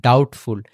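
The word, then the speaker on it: doubtful: মানে ঋণ আরটা হচ্ছে ডাউট ডাউট আরেকটা হচ্ছে ডাউটফুল ডিও ইউ এইযেবিটা উচ্চারিত হবে না কারণ টি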